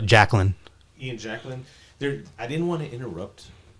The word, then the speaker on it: Jacklin: How do you pronounce his last name? Jacklin.